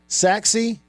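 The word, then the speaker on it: Sachse: Uh orgy for coach Mullen is the former quarterback for Forest here in the Dallas area at Sash High School. Pronounced what? Saxi.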